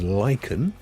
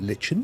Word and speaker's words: lichen: Scientists use lichen, you may pronounce it lichen, you're perfectly entitled to do that, to regrow